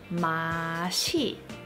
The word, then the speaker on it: 맛이: In this case, the E that follows 맛 is a particle. Therefore, this word is pronounced 맛이.